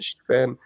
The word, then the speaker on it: Sven: I feel like he pronounces that with a TH and an F in between instead of a V. Look at Sven. It's Sven.